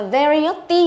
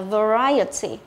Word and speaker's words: variety: Nhớ là không đọc là variety nhớ, mà mình phải đọc là variety.